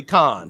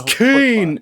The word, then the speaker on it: Kane: But talking about Lily Khan. Yes. Lily Khan. Something else people get pissy about. It's Kane.